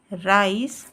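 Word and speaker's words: rice: में ई आए तो ई का उच्चारण नहीं करते हैं अगर लास्ट में किसी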